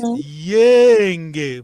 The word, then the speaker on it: Yenge: Então, Yenge, vogal longa.